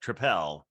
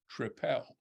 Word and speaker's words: Tripel: So yes, it's a mouthful, but Tripel, always a Tripel.